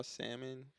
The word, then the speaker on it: salmon: you ever had raw salmon?